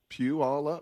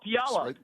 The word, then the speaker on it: Puyallup: It's a church pew. It's all of us, and we're going up. Pew all up. Oh, Puyallup. Puyallup. There you go. We rode the Puyallup.